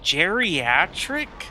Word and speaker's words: geriatric: up with words like geriatric and then it's like you hear it it's like oh like the name Jerry but it's spelled g e r i I've been speaking English